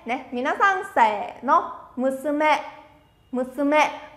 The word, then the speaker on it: 娘: Sẽ đọc là Musume. Mình nói sang sẻ nó. Musume. Musume. Ở đây thì âm sư không có vô thanh nên các bạn cứ đọc mạnh thoải mái.